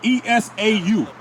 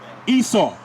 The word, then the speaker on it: Esau: That's spelled E-S-A-U. Esau.